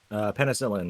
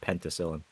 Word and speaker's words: penicillin: Penicillin, not penticillin.